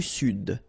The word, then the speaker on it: sud: L'Amérique centrale, l'Amérique du Sud, here you should pronounce the D, sud, sud, okay?